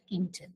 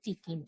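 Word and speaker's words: Tkinter: or we can say Kint okay T is silent if you are pronouncing t as silent we need to uh we need to call it as Kint okay or else we can say tein so we have a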